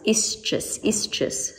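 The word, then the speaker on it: ἰσχύς: The Greek word for strong in the New Testament is quite tricky to pronounce, ischus, strong.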